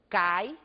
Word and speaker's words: cai: Quando dizemos, por exemplo, cai, esse mesmo I agora é pronunciado de uma forma menos intensa. Temos aí uma vogal átona.